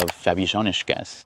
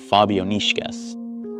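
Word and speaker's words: Fabijoniškės: So the correct pronunciation of this pseudo pryyot should be Fabonishkas.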